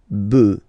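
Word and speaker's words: bœufs: So you just add this s but then pronunciation changes quite much because you get debuff du.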